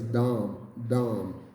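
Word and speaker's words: דם: what you're saying are the phonetic spelling in English would be like like a d-a-w-m Down and this means blood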